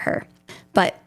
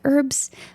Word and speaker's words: Herb: Like it's spelled like Herb, you know, like herbs, but I feel like you pronounce the H in it.